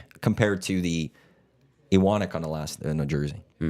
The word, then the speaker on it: Iwanyk: that's where I'm more like compared to the Iwanyk on a jersey. How come people call you Iwanyk? Because I don't correct people. Even LTE calls you Iwanyk, A lot of people do. but it's Iwanyk.